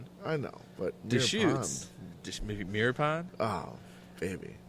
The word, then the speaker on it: Deschutes: Now, is it Deschutes or Deschutes?